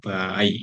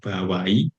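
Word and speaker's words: 場合: Baik, selanjutnya ada kata bai ya. Bacanya boleh bawai ya, bai, boleh juga bai.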